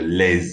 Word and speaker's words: les: But on this occasion, we do pronounce the S on les because it's followed by a vowel. So je les aime.